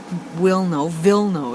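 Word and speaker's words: Wilno: really small community um wio vno is how I think it's pronounced it's the first polish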